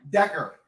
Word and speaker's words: Decker: Decker. Decker. Like Eric Decker.